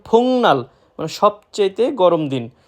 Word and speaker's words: 복날: ফুংনাল আমরা যদি কেউ উচ্চারণ করি ফুকনাল, সেটা সম্পূর্ণরূপে ভুল। সঠিক উচ্চারণ ফুংনাল মানে সবচেয়েতে গরম দিন বা সবচেয়ে গরম দিন।